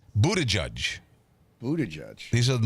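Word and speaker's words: Buttigieg: I say booty juice. I call him Pete Booty Juice. But it's Buddha Judge.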